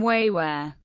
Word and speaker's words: 维吾尔: The Chinese used to call them Chantiao, but this term has been dropped, being considered derogatory, and the Chinese, using their own pronunciation, now called them Wéiwúěr.